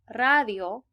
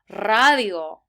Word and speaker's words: radio: But also, if a word starts with an R, you get to roll your R. So actually, for the word radio, we should have said radio.